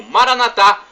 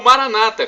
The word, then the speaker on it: Maranata: E agora, do aramaico, dialeto de Jesus, eu clamo Maranatá, como dizemos nós católicos, ou Maranata, como dizem nossos irmãos separados, os evangélicos ou protestantes. Não importa a pronúncia, nós somos todos